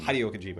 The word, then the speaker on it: Hideo Kojima: Hideo Kojima, okay.